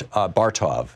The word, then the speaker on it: Bartov: Omer Bert's Bar Tov am i pronouncing your name right sir both of it